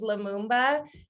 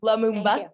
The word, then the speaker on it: Lumumba: What you don't hear on the show is Lumumba, which that's how you say it, by the way. Lumumba.